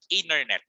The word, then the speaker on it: internet: Pero I would like to push you guys na ang ating pronunciation will be internet. Okay, internet. So parang silent T tayo, silent T, internet.